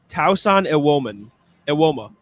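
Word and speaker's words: Tosan Evbuomwan: How you pronounce it is Tausan Ewoma.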